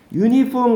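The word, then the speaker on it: uniform: 스펠링 기준이 아니에요. 유니폼 같은 경우에는 어를 쓰는 이유가 뭐냐?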